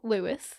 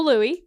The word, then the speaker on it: Louis: William Arthur Philip Lewis, or Louis, you never know. I think it's Louis. I think it's Louis, yeah.